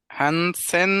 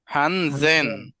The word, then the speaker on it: Hansen: হানসেন না, হানজেন।